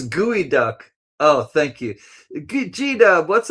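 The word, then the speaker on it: geoduck: San Francisco gooey duck. I know it's spelled gooey duck.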